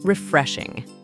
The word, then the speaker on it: refreshing: The word is stressed on the second syllable. Refreshing.